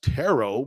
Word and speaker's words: Turo: to you by turo it's pronounced tarot but it's spelled t-u-r-o and it is the world's largest car sharing marketplace with tarot you can book any